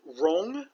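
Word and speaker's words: 榕: the fugue hua and the ficus rong which is a rhyme with yong and the name for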